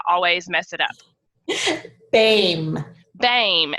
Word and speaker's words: Boehme: mess it up babe beim and it is not spelled like that at all so Darcy Dame and